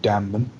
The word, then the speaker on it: Damnum: very very soon um i'm probably going to pronounce it wrong but it looks like it's called damman yep you got it there you go just